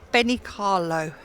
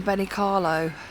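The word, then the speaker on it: Benicarló: Should pronounce that right, shouldn't I? Benicar- Benicarlo.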